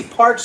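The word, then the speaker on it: Parx: Parks is spelled P-A-R-X.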